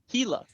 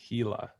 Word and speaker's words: Gila: And it's pronounced Gila, the Gila Monster. Gila.